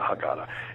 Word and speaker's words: Haggadah: called the sephir haggadah some people pronounce that differently as the da but i call it the haggadah and it's it translates